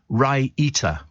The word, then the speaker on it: raita: Andrew Woking says your favourite Indian dip is pronounced raita.